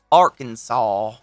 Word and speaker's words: Arkansas: of a similar one since the letter s at the end of the french word is usually silent we pronounce bill clinton's home state arkansas oh i'll probably restart